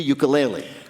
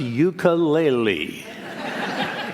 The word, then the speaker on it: ukulele: living masters of that island's traditional instrument, the ukulele. Peter's first question to Taimane, how the hell do you pronounce ukulele?